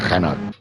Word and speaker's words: Renault: It sounds disgusting when I say Renault, but I do it on purpose. I'm so sorry if it makes you cringe every time. But, you know, it's how they say it over there.